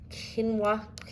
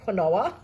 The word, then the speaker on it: quinoa: 2 lots of the quinoa, I think that's how it's pronounced. I always say quinoa, which is so funny, but it's wrong.